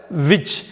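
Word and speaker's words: witch: அடுத்த வார்த்தை விச், WI, டி வந்து சைலண்ட்டு. CH, WICHன்னு தான் படிக்கணும்.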